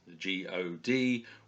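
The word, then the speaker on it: gōd: it's God Kooning and it's written the God is g.od with a little line over the O to make it a longer sound says God and then Kooning is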